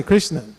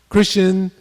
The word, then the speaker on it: Krishna: then Krishna everybody say Krishna Krishna only two syllables Krishna but still people mispronounce that chrisan or Krishan or they all kinds